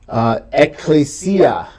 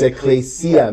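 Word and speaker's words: ἐκκλησία: Ecclesia. Ecclesia. Everybody say ecclesia. Ecclesia. Notice the double consonant, the double kappa. They're both pronounced, so it's not ecclesia. It's ecclesia. Ecclesia.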